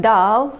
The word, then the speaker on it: dál: Dal means he gave and dal means further.